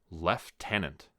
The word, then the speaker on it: lieutenant: and Eddie Eddie must have copied it down left tenant Eddie couldn't have read a pronunciation on a page had Dr Foster read